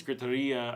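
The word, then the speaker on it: gritería: Oh, griteria pronunciation in Spanish. Yes, it's griteria.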